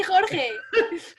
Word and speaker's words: Jorge: My name is Jorge with a silent G. What? Not definitely silent. You just say it like an H when you think about it. You say Jorge.